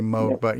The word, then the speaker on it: Moog: Moog, actually, it's pronounced right. Moog. We say Moog here, but it's actually Moog.